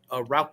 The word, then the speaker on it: Rauch: an element of a Rauch beer, and smokiness. You said it right, Rauch beer.